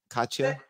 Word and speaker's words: Katja: I saying it right I'm saying do I pronounce your name right Katya okay all right so I gotta tell you